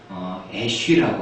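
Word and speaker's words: אש: 히브리어로 불, fire라는 단어는요, 애쉬라고 합니다. 애쉬. 그리고 남편이라는 히브리 단어는 이쉬라고 합니다. 거의 발음이 약간 다르지만은 똑같은 단어, 자음은 똑같습니다. 불하고 남편은요, 히브리 단어가 자음은 똑같습니다. 그 밑에 모음만 약간 달라서 발음이 불을 애쉬, 남편은 이쉬라고 합니다.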